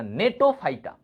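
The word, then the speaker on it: Gnetophyta: Zinc, zinc গো ফাইটা, সাইকাডো ফাইটা, নেটো, এটার উচ্চারণ কি, জি এর উচ্চারণ হবে না, নেটো ফাইটা, কোনিফেরো ফাইটা, কোনিফেরো ফাইটা।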